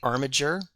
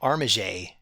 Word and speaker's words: Armiger: Is it Armagur or Armager? I say Armager because I assume this is from the French word armiger.